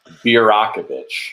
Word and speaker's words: Birakovich: every episode, and finally it is Birakovich. Birakovich. And it's just like it looks.